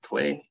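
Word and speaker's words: CL&E: we normally go by the acronym uh for our office which is pronounced clay um Clay is a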